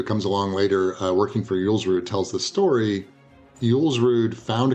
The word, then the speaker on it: Julsrud: Julsrud.